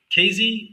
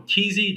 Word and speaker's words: KZ: We have a KZ or Kizi, depends on where you are in the world as to how you're going to pronounce it.